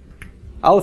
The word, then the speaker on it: aleph: 3 mm-hmm okay thanks Alif is the first Hebrew letter Aleph is an awkward letter to start on because it doesn't make a sound The Aleph itself is silent now you may wonder